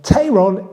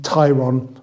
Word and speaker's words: Tayron: I've been advised that my pronunciation of Tyron is incorrect and it should actually be Tyron sorry about that okay